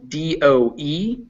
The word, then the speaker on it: dough: the same yes do d-o-e is a word for a female deer yes do d-o-u-g-h is what you make bread out of yeah but yes they are both pronounced exactly the same okay thank you so